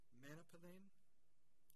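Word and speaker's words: Manalapan: Going to mispronounce this, Manapalin, Florida, from February 3rd through February 7th, 2019.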